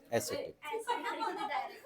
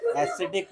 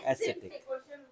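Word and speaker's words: ascetic: एसेटिक, एसिडिक नहीं, एसेटिक।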